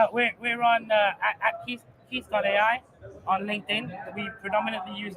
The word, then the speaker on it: KEATH: it is really really easy to use yeah so and Keith is spelled k e a t h yes just let's not